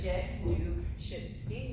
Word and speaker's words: Januszewski: In case you don't know how to spell my name, or say my name I should say, that is the pronunciation of it, Januszewski.